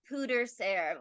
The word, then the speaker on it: pwdre ser: I said pronunciation and it says pooter serve like that like people like pewter like pooter Hooters there that's it Hooters there